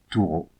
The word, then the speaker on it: Torah: Le tétragramme Yud et Vav E peut se prononcer Yohuo et le mot Torah Touro.